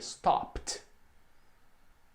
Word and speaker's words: stopped: Não pronuncia o E, combinado? Então vai ficar assim, né? Stop. Novamente tem esse som de T, stopped.